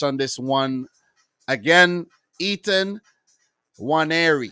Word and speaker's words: Nwaneri: Ethan Nwaneri. I think the N is actually silent. Ketia Nwaneri. The N is silent.